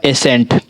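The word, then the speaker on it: ascent: एस के बाद देखिए एस है और एस के बाद हमारा सी आ रहा है तो ये हमारा साइलेंट होगा। ये क्या हमारा एसेंट।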